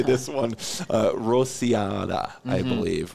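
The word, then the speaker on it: Rociada: Rosiada, mm-hmm. I believe. Rosiada, correct.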